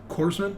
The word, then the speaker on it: corpsman: Corpsman? Yeah, corpsman. Corpsman. Okay. Just like it's Marine Corps, right? Not corpse.